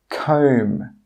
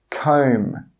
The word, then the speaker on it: comb: This means when you pronounce these words, you don't have to pronounce the letters which are in red.